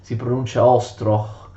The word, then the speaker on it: Ostroh: Per questo il principe ucraino Konstanty Ostrowski fondò un collegio a Ostrog, che in ucraino si pronuncia Ostroh.